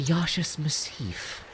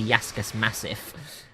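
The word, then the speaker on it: Yaschas Massif: The Yasha's Massif. Because she actually told me how to pronounce half of these words. I always thought it was like the Yaskas Massif. And I was like, that's not how you say that.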